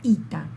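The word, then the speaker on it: ήτα: El artículo femenino está representado también por una sola letra, la ita, la letra I.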